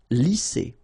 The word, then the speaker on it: lisser: Lisser. Same thing here. Double S, S. Lisser.